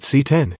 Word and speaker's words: CX: get to know the lg cx series it's pronounced c10 because lg wants to be like apple i